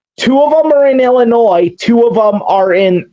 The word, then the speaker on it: Illinois: Two of them are in Illinois.